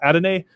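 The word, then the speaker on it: Adonai: to mispronounce his name adenae mitchell it's not donnie but it's adam a mitchell freshman yeah he had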